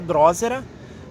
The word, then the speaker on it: drosera: tem esse dilema tá a pronúncia dela seria drósera porém a gente chama